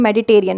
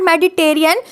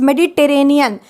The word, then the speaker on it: Mediterranean: भी बोल रही हूं मेडिटरेनियन note मेडिटेरियन इट्स मेडिटरेनियन मेडिटरेनियन diet में जो